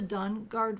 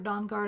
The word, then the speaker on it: Dawnguard: time for us to head down to the dungard fort dawnguard i keep saying it wrong and talk to